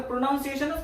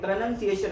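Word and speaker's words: pronunciation: जेव्हा ऐकल असेल मला मी याचा उच्चार प्रोनाउन्सिएशनच करत होतो पण मला जेव्हा कळलं मला अस वाटत हे प्रोनाउन्सिएशनच असेल मला तस अस कळलं की नाही हे प्रोनन्सिएशन नाही हे प्रोनन्सिएशन आहे मग त्या दिवसापासून ते प्रोनन्सिएशन असच म्हणतो शिकण म्हणजे असच आहे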